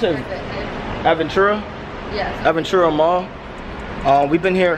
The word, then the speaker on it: Aventura: ventura and what is it how do you pronounce it aventura yes aventura mall uh we've been here how long we've